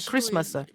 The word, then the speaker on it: Christmas: Donc, mais on enlève le T au niveau de la prononciation, donc ça fait Christmas.